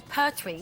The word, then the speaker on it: Pertwee: Tom Baker was voted the favourite Doctor, with the late John Pertwee. Is that how you pronounce his name?